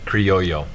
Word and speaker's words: Criollo: Derek, did I say Criollo right? No, you didn't. How do you say it? Criollo. That's what I said. No, you didn't. Criollo. Criollo. Criollo. Not yo-yo.